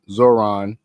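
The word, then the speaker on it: Zohran: It says here the phrase turn the volume up used by Zoron Zoran Zoron the H is silent. Zoron M Dani during his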